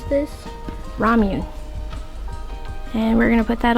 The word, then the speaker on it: Ramune: Ramuni. Babe, how do you pronounce this? Ramune.